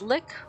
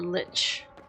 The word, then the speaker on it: Lich: It's pronounced Lick or Lich.